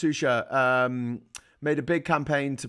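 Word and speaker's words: Xuxa: Shusha, pronounced Shusha, made a big campaign to protect and defend transsexuals.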